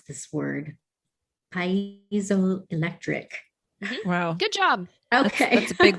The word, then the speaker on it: piezoelectric: It's able to transduce the energy quite effectively with its, I always mispronounce this word, piezoelectric.